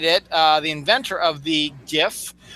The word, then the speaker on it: GIF: Because graphic doesn't start with a J and it has a hard G sound.